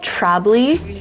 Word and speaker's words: Trablit: It's called Trabli. It's like literally spelled like that.